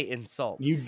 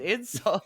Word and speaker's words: insult: I don't say insult. It's an insult. You really hit that second syllable.